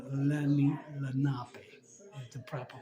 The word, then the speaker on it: Lenape: Some people say it Lenape and Lenape, but it's Lenape. Is the proper pronunciation from what I was told at 2 locations already.